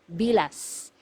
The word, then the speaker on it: bilas: this one MGA hiala you have to pronounce the letter S at the end because if you mispronounce it nearer to letter T it is actually it actually means the private part of a woman okay so make sure you pronounce the letter s it should be bilas okay next one illegitimate